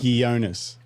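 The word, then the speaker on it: Ghionis: He's like cuz it's he it's spelled G H. And he's like Yeah, like ghost. It's not Jo.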